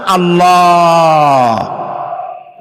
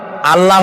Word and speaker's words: আল্লাহ: আল্লাহর নাম আল্লাহ। বলেন তো আল্লাহ নয় কিন্তু আল্লাহ হচ্ছে অশুদ্ধ শুদ্ধ হচ্ছে আল্লাহ বলার সময় মুখটা গোল হয়ে যাবে বলেন তো